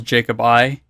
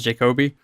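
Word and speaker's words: Jacobi: I always mispronounce it because all of the cheats in this game were developers' names. So I always remembered it as like Charles Jacob I instead of Charles Jacoby.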